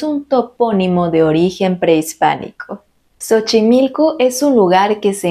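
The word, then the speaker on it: Xochimilco: y sochimilco es un topónimo de origen prehispánico sochimilco es un lugar que se encuentra al sur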